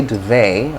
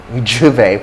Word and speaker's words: duvet: in a duvet so americans say do they do they and i think they say duvet i don't know but uh but i'm sure duvet for american english and juve juve for british english and funny jew jew